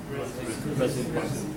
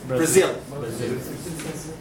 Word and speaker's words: Brazil: In English it should be Brazil. Look to this. Brazil. Ba, there is nothing. It's not ba, not bu, not b. It is what? Brazil.